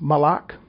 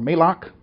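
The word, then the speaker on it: מלאך: for that is number 43 97 and it's pronounced malach or may lock Moloch mal a K and this word is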